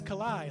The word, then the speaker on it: Kalai: when you introduce yourself you said my name is kalai like Adonai I love that way